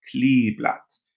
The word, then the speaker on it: Kleeblatt: Be careful. We English speakers, when we see two E's together, want to say E, but it's E, das Kleeblatt. Two E's together in German makes a long E sound.